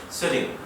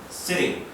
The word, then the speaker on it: sitting: 입을 크게 벌리지 않고 세팅이냐 시팅이냐를 발음하면 정말 비슷하게 들려요. setting, setting, sitting, sitting 거의 비슷하게 들리죠.